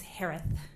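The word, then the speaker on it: Herath: Last name is pronounced like Harris with a lisp. It's Harith.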